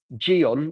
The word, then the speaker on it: Gyeon: So Gabriel, it is called Geon, which is spelled Gyeon.